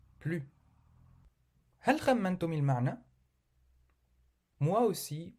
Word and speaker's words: plus: نجد في هذه الجملة نوعا آخر للنفي مع كلمة plus من دون نطق الحرف S. plus.